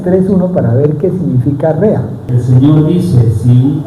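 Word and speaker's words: רֵעַ: Y en hebreo se pronuncia rea, que quiere decir amigo, compañero.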